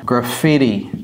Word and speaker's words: graffiti: important les graffiti graffiti vous voyez comment je prononce ça graffiti c'est pas graffitiffitiffiti ok les panneaux d'affichage